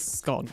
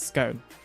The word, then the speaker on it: scone: boss scone that's really the only true way to pronounce it I think anybody that says Scott is just objectively wrong you know I'm not